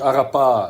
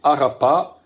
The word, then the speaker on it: Arapà: l'origine qui s'appelle Marakara avec l'accentuation sur la dernière syllabe. Chose qui se fait rarement encore peut-être en a tendance à laisser couler la dernière syllabe. Là qu'on on accentue bien c'est pas Arap c'est Arapa et Marakara qui sont